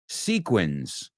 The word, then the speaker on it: sequins: funny because when it's an S it sounds like a z and in the second one sequia when it's a it sounds like an S so does English make